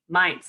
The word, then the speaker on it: Mainz: and living primarily and mites actually is how you say it yeah it's confusing